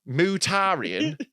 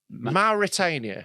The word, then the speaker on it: Mauritania: did you just say how did you just pronounce that what mutarian Mauritania sorry I've never heard of this country before